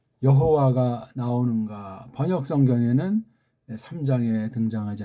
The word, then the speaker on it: 여호와: 다음 해자, 바브자, 해자, 이걸 한글엔 여호와 이렇게 이제 오늘날 이렇게 이제 굳어져 있는 표현을 써요. 여호와라고 읽습니다. 조금 젠치하는 신학자들은 뭐 야회 등등 이런 소리들을 또 이제 하고 있는 건데,